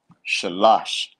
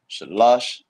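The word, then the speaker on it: שלוש: three in the Hebrew sha lash that's how you say three in the Hebrew the Sha the LA and the Sha but again last a drops so you'll write it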